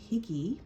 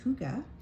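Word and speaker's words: hygge: if anyone is familiar with the Danish term higy or actually it's pronounced Huga um but spelled h y g g e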